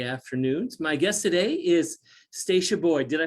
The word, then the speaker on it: Stasha Boyd: florida on thursday afternoons my guest today is stacia boyd did i pronounce that correctly yes you did i would